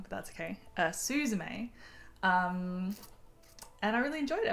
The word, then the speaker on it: Suzume: sat down around dinner time and I watched Suzume. Suzume. I can say it right. I've been rehearsing in my head and then I still said it slightly wrong, but that's okay. Suzume.